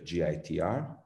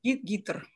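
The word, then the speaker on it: ГИТР: the cultural department of gitr it's correct jtr films oh it's pronounced guitar in russia film in russian is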